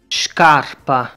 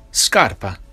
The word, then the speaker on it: scarpa: Another difference is the sound shk and shp, as in scarpa, spitale. In the traditional Neapolitan, they are pronounced like that. However, in this dialect, those sounds are sk and sp, as in Italian scarpa, ospedale, and in English score, spare.